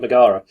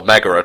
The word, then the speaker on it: Megara: She does remind me a little bit of, speaking of Hercules again, she reminds me a touch of Megara. Or Megara, to pronounce it correctly.